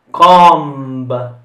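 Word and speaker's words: comb: è la prossima parola com gu la b non si pronuncia alla fine come tante altre parole è un nome e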